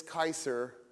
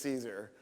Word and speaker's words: Caesar: for example Gaul when Gaius Julius Kai sir you guys know him as Julius Caesar like we mispronounced everything it's it's almost like